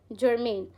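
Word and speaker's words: germane: इसको आप प्रोनाउंस कैसे करोगे? जर्मेन।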